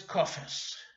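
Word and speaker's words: קאַווע: The textbook that I use, they have it spelled kave, but that's not the way I've always heard it pronounced, having grown up in America and learned Yiddish in America from people who say kofe.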